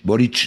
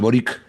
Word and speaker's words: Boric: Y Boric este se pronuncia Boric, no Boric, porque es un apellido croata.